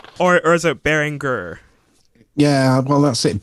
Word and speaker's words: Behringer: behringer or is it bearing gur yeah well that's it bearing somebody pointed out to me um in the chat oh you're saying it wrong bearing uh and it because it was all behringer um yeah i'm never